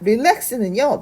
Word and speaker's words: relax: 자, R과 L 리을 발음이 두 개 다 들어가지만 R은 혀의 위치가 뒤쪽으로 목구멍 쪽으로 살짝 빠진 위치에 있어야 됩니다.